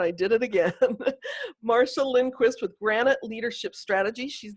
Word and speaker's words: Lindquist: I pronounced it wrong when I asked her, and I did it again. Marsha Lindquist with Granite Leadership Strategy.